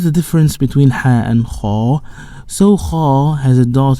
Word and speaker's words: خ: So Kha, this is a heavy letter. So in Arabic we have 7 heavy letters. These letters we collected in phrase خص ضغط قض. So when you pronounce these letters, you will fold your mouth by the letter and you will elevate your posterior part of the tongue towards the roof.